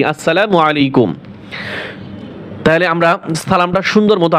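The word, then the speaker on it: السلام عليكم: তাহলে আমরা যখন মোবাইলে কথা বলবো, অনেকে বলে আসসালামু আলাইকুম, শুদ্ধ মতো দেয় ঢাকার মানুষ, আসসালামু আলাইকুম, আসলা নয়, আসসালা।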